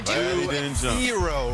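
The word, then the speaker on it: Herro: Hero rhymes with hero, and certainly that's snapped on this dunk.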